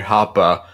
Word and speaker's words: Hoppe: representing the God Emperor Hop. Oh, I'm sorry, Hoppa. I'm sorry, Hoppa! Because you gotta overpronounce that last vowel for some reason.